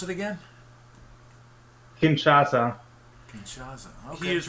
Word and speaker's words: Kinshasa: Henry Morton Stanley founded leopoldville which is now Kennesaw how do you pronounce it again Kinshasa he is right it is the capital of